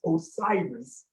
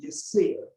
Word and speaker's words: Osiris: He said, your name is not pronounced Osiris. He said, that is the Greek pronunciation. He said, your name should be pronounced Yasir.